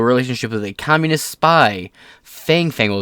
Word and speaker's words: Fang Fang: with a communist spy Fang fangle is pronounced Fong Fong but it's fun to